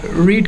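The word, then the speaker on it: read: पे का है पेड रीड का यही सेकंड फॉर्म है लेकिन हम रेड कहेंगे स्पेलिंग इसी तरह है सेल का है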